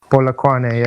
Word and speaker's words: Polokwane: I don't know how to pronounce the city. I'm sorry. Polokwane, is that how you say it? Polokwane, yeah.